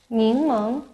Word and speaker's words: 柠檬: Ningmeng, lemon.